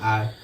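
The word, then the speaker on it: hour: silent शब्द होते हैं कुछ साइलेंट यह लिखा रहेगा हा ओ यू आर से लेकिन इसको हम लोग पढ़ेंगे आर हा ओ यू आर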